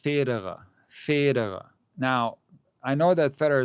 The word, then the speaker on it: Federer: of names was that people don't say Federer the right way, and it's pronounced Federer.